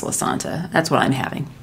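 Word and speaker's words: Lasanta: I do know it's pronounced La Santa.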